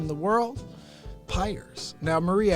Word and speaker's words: Pires: name in the world Pires now Marie I wonder if you pronounced it the way I do as you say if hires you say piers a lot of people